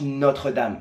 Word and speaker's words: Notre-Dame: Notre-Dame? It's actually pronounced Notre-Dame.